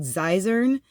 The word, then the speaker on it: Xyzern: And if you want a good Medicare archive, the channel is called Xyzern. It is spelled XYZERN.